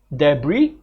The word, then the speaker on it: debris: Here are some commonly mispronounced words: debris, receipt, and asthma. So it's not debris, okay, the S is silent, right, and it's not asthma, right, the TH is silent, all right.